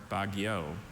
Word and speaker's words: baguio: Baguio or Baguio? Baguio. Am I pronouncing it right?